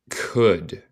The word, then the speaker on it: could: As well as she could. Recuerda, no pronuncia el L en could.